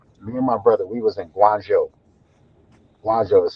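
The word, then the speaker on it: Guangzhou: I remember one day me and my brother, we was in Guanjo. Guanjo is spelled Gu U A N G Z H O U. Guanjo.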